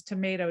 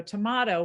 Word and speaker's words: tomato: But if you were in Europe with that word, you said it based on tomato, which was the European pronunciation of the vowel sound of things written with an A, basically. And so we have these two pronunciations, tomato, tomato, because of the fact that you would say it one way in Europe and one way in America.